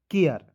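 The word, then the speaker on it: care: दीजिएगा और याद रखिएगा अंतिम में ए आर ई आएगा तो उसका उच्चारण दोस्तों एयर के रूप में करेंगे। किसके रूप में, एयर के रूप में, तो हो जाएगा सी ए आर ई केयर।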